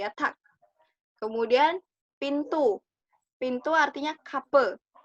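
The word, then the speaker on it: kapı: Pintu artinya kape. Kape. Bukan kapi, tapi kape. Nggak ada titiknya berarti e.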